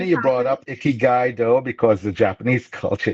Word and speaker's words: Ikigai: pronouncing that wrong, Ikigai, but it's that, that Asian culture of like mindfulness and slowing down and taking rest and appreciating the moment.